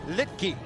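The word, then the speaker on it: Luetge: Litke is how it's pronounced.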